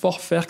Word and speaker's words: Vorwerk: Alors, Vorwerk, si on le prononce à l'allemande, a priori, très peu connu comme ça.